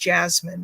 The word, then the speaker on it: jessamine: This stuff is, or it's pronounced jasmine really, but it's jessamine.